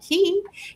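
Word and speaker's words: Kie: And everyone's saying hello to Key, and it's spelled K-I-E, but it's short for Keisha. And so we pronounce that Key.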